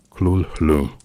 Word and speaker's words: Cthulhu: In the call of Cthulhu, Lovecraft describes the name as only approximately rendered in human phonetics, writing that it would be pronounced Kul Hulu or perhaps Cthulhu Fo Chetan with the warning